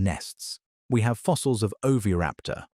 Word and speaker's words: oviraptor: We have fossils of oviraptor, pronounced o-v-i-h-r-a-p-t-o-r, a small feathered dinosaur in the exact